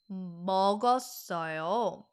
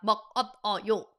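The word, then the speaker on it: 먹었어요: Meogeosseoyo. How is it not meok ot o yo? Well, because there is a patchim and then it starts with silent character, right?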